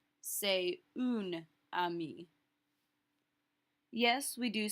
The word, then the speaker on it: amie: Because ami and amie are pronounced the same.